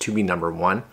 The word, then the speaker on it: Tobenone: from a company called to be number one and it's it's not necessarily spelled that way but that's how they want it kind of pronounced to be number one so this docking station